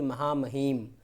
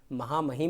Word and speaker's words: महामहिम: और दूसरा शब्द है महामहिम, देखिए हा में है छुटी की मात्रा, और जो अधिक अक्सर प्रोनाउंस करते हैं वो हम लोग इस तरह बोलते हैं कि महामहिम, महामहिम नहीं है, महामहिम।